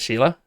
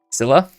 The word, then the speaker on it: Scylla: How do we pronounce this? Is it Sheila? Because I'm reading it. Scylla?